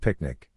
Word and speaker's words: PQNK: glossery pq picnic Peter Krainam cashiari pronounced picnic translates to pristine organic farming system a regenerative